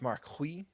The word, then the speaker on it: Marquis: It's pronounced Marquis. It's French.